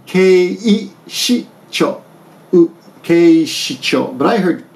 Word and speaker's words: 警視庁: I heard keicho, but it's actually 警視庁。 keishicho. Keishicho. But I heard keisho. Keisho, I heard. I thought, what is keisho? But keishisho. I'm sorry. Keishi. Yeah, keishicho.